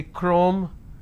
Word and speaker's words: chrome: have the word chemistry ch becomes cur sound so i say chemistry i say chrome so i do not